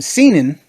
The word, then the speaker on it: seinen: and then there's seinen. Seinen? Wait, hold on. How do you? Welcome to this pronunciation video.